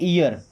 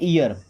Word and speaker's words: ear: इनका एक वर्ड आपने पढ़ा होगा, EAR, इसे क्या पढ़ते हैं, ईयर। क्या पढ़ते हैं, ईयर, ओके।